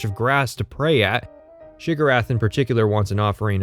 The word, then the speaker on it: Sheogorath: Have you come to be of service to Shigarath? Despite putting that in the video, and pointing out that this is the pronunciation of the name that Morrowind gives you, people still leave embarrassing comments about how I said the name wrong.